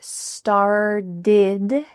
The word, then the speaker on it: started: The word start ends in a T, but this T is changing to a D. This is super typical in American English that T's change to D sounds. So I want you to say this with me. This started. It kind of sounds like star plus did.